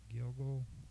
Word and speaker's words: Gilgul: So today's video is going to be on the Gilgul, and the Gilgul is pronounced Gilgul, GilgulNeshamot, Gilgulei Ha Neshamot, and in Hebrew, in Hebrew plural, it is Gilgulim.